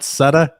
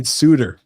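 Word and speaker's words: Suter: sound p also said it's not sutta it's ryan suiter pronounced suitor i got it i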